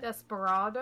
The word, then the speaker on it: Desperado: It's like the tale of Despero, except an additional syllable.